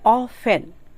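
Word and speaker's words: often: means होता प्रसाद अगला ऑफेन ऑफेन it means T silent है ऑफेन मींस अक्सर या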